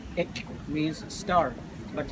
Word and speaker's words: Ek: For example, this one, if we pronounce it like ek, means star. But if we pronounce it a little bit long, like ek, is black.